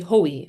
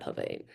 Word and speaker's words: hoi: use of hoi, and take pains to emphasize that it should be pronounced hoi, not Havai.